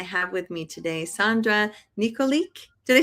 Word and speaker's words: Nikolic: I'm Melissa Keenan, and I have with me today Sandra Nikolic.